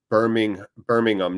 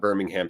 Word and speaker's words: Birmingham: Hate to be that one English guy, but it's pronounced Birmingham, not Birmingham.